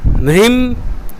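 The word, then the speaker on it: ह्रीं: लिख लीजिए मंत्र, ओम ह्रीम, जो है के नीचे र लगता है उसको बोलते हैं ओम ह्रीम।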